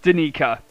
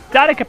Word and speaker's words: Danica: It's Danica, not Danica.